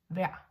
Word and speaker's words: vejr: And when it does mean the weather, you pronounce it like this in the indefinite form, vejr. Almost like to be, like in the imperative, yeah?